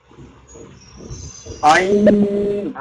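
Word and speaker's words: عين: শিন, তারপরে এটা শিন, তারপরে এটা বলুন আইন, আইন আইন আইন, আইন। এখানে টান হবে, শেষে কোনো টান হবে না, মাঝখানে টান। আইন আইন, আইন গলার ভেতর থেকে আইন আইন আইন, আইন এভাবে।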